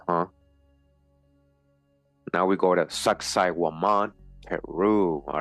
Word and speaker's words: Sacsayhuaman: All right, it says here the ruined mountaintop fortress of Sacsayhuaman, Hawaman, Sacsayhuaman, pronounced Sacsayhuaman, overlooks the ancient capital of Cusco.